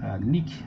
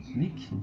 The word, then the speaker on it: লেখা: এটা লেখা নয়, এটা হচ্ছে লেখা, লেখা কিংবা কেনা।